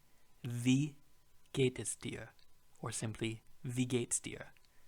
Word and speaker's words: wie: The W in German is pronounced as a V. Wie geht es dir?